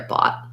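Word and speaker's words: bought: but um yeah good the gh letters are silent you can try pairing it with a word like thought if that's easier or or also the word taught those are rhyming words with bot um that's definitely a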